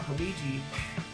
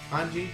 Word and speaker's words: Hanji: Now, the second half of the episode is about Hamiji, or not Hamiji, Hanji, that's how you pronounce her name.